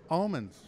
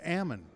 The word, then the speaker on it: almond: He says, do you know the proper pronunciation? I said, it's Ammon. And he goes, you know, north of Sacramento, it's Ammon. South of Sacramento, it's Almond.